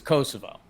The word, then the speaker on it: Kosovo: my country proper swing I never heard of Kosovo right well you that's not a place cuz it's Kosovo you've never heard of that either yeah hey